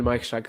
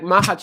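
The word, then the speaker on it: Majchrzak: But anyway, like Mahach is probably the correct pronunciation, but honestly, I say Mahach too.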